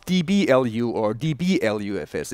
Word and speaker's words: LUFS: 21 lfs not DB lufs yeah don't confuse that so lfs is basically our new our new unit we are talking about and in in the English language it's very nice because you can pronounce it loves you know and we